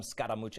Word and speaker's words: Scaramucci: I call him Scaramucci.